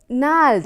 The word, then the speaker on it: gnarled: Gnarled, I told you, G is a silent word here. G is a silent letter.